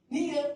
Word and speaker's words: Nia: speaking SW and that the i in Nia is pronounced like an e Nia means purpose I named